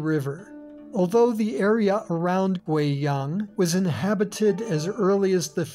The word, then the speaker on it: Guiyang: In the name of this province and its capital, the U plus I is pronounced wei, not we. Listen. Guizhou, Guiyang.